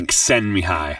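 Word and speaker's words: Csikszentmihalyi: Um we're getting chick send me high.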